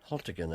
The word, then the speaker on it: Haltigan: Haltigan, as it's pronounced.